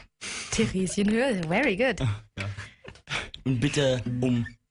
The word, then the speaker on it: Theresienhöhe: Tomorrow in Munich, I'm going to try my German pronunciation now. Saturn, Theresienhöhe. Theresienhöhe, very good.